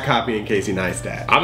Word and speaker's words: Neistat: Neistat.